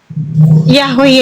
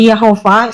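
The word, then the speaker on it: Yahweh: Itu nama Tuhan Yahwe Yesua bukan Yesus. Ada bacanya Yeh itu bacanya Yahwe atau Yehova sama saja itu pronouns berdasarkan lidah bangsa.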